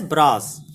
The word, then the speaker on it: bra: And the final state, this is represented like this, and it is pronounced as bras.